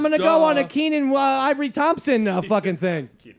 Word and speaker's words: Kenan: they gave it to that other kid, the Kenyon. What's his name? Kenyon Thompson. Kenya Thompson. Kenya Thompson? Name, yeah. Whatever no, his no. fucking name is. What is his name? Kenan Thompson.